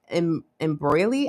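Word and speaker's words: Embroly: Um, they are from Embroy, I guess is how you pronounce it. E M B R O L Y.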